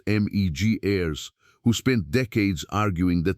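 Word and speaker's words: Betty Meggers: The most influential voice behind this idea was an American archaeologist named Betty Magers, pronounced Megirys, who spent decades arguing that the tropical rainforest was a place where complex civilization was, in her words, essentially impossible.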